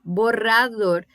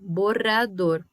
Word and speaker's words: borrador: Por exemplo, esse que tem RR, borrador. A língua chega a tremer. Borrador.